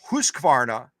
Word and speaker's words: Husqvarna: It's not 3 syllables, 2 syllables. It's the same year Husqvarna, I guess that still is 3 syllables, isn't it? Husqvarna. It's 3 syllables, not 4 syllables.